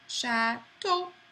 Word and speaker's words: chateau: The letter combination E-A-U and A-U makes an O sound. So this is chateau.